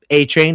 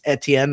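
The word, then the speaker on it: Etienne: I mean, a chain, right? Even though it's Etien, right? Supposedly, that's how you pronounce it now.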